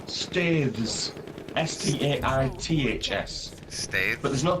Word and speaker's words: Staithes: Okay, it is pronounced Staithes, Staiths, States.